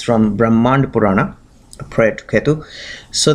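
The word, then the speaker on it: Brahmanda Purana: Pana called Brahman actually brahmand purana that's how it's pronounced in Sanskrit brahmand purana and it has given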